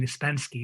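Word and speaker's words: испанский: you know your Russian, Ispansky is how you say Spanish.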